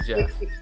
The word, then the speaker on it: Geoff: it, it's spelled like Geoff. Yeah. Yeah, but it's really Jeff. We just pronounced it wrong.